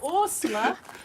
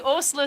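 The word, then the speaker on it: Åsle: because A with a circle over it, S-L-E, is pronounced Osla. So it's the Osla stitch, yeah.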